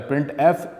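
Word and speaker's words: printf: हैं the standard library function प्रिंट एफ जिसको pronounce किया जाता है प्रिंट एफ इज यूज for formatted output अब प्रिंट एफ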